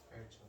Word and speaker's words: 발전: 발전. 발전이잖아요, 발전. 얘도 이상하죠? 유음인데 뒤에 된소리가 되고 있어요.